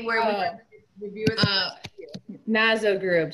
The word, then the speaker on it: Gnazzo: it say where woman Naza group silent G and a double zo group is our handle